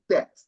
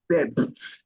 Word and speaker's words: debt: So moving on to the next, the B is not pronounced, and she got it right too. So it is debt, debt, debt, not debit.